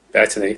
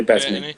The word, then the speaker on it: Bettany: Bettany, definitely Bettany.